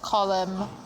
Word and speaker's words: Colm: And then the prosthetics life casting artist Colum Mangan or Colm. Colm. I I know a guy whose name is spelled column, but you pronounce it col.